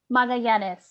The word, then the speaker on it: Magallanes: All right, give me a pronunciation again so I don't screw it up. Magallanes.